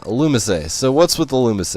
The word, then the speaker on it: Illumise: into the bug here illumise a yes it's only miss a I actually didn't know that pronunciation until I looked it up beforehand because I wasn't so sure but yeah illumise a so what's with the